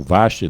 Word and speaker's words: Vasti: Diz o verso 11 aqui na minha versão, diz assim, olha, que trouxessem à sua presença a rainha Vasti, ou Vasti, dependendo aí da sua pronúncia, com a coroa real.